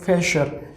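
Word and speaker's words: Fächer: So f, a like fe, sh, r. So fesher.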